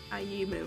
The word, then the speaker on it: Ayumu: Ayumu. That's how you pronounce it.